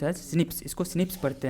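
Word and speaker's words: SNP: Pronounce as स्निप्स।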